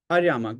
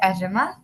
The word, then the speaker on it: Aryama: Uh Aryama go ahead. Uh I'll take one last question and then we'll continue from there. Yes. Sir, first of all, my name is pronounced Arama.